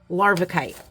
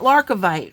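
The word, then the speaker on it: larvikite: Larvicite. Yes, not Larcovite, friends. Not Larcovite. No, no, no, no. Larvicite.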